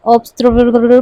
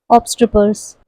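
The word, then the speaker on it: obstreperous: And then the last one, जिसे first time में देख के आप शायद ऑब्स्ट्रपर पढ़ो, लेकिन अगर आपको सही प्रोनाउंसिएशन पता है सो you will say ऑब्स्ट्रपर्स, which means noisy.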